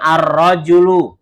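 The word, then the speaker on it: الرَّجُلُ: Ini roknya fathah, jimnya doma ar-rajulu.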